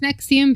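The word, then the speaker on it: NXIVM: So number 13 is the Nexium cult which is probably the most modern of this group. Yeah. It's pretty recent. Yeah. So, pronounced Nexium because it's spelled N X I VM.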